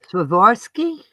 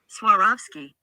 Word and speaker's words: Swarovski: But Swarovski. I mean, I don't know if that's technically how you say it. I've heard a guy say it where he's rolling his R's. Swarovski or Swarovski or something.